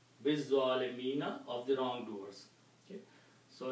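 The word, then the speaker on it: بالظالمين: And when you read with this ba, you do not pronounce this alif. Biz-zalimina, of the wrongdoers.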